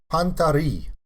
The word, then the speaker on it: Panta Rhei: of this song is pantari okay and that's the french pronunciation if you don't agree